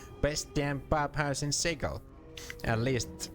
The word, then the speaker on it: Sigil: Sigil, I cringe every time I hear it, but that's the right pronunciation.